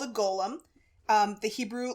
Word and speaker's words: Golem: so actually it's pronounced Golem which is different from Gollum the little creepy dude and Lord of the Rings um this creature is from Jewish mythology it's called a Golem um the Hebrew letters